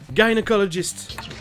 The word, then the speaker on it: gynecologist: Et pour ce qui est d'un G devant un Y, c'est toujours un soft G, sauf dans un seul mot, gynecologist. Allison, she doesn't like her gynecologist.